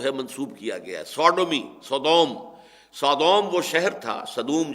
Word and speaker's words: Sodom: منسوب کیا گیا ہے، سوڈومی، سودوم وہ شہر تھا، صدوم جس کو ہم کہتے ہیں، سوڈوم SODOM، یہ بائبل میں اس کا تلفظ ہے، تو اس سے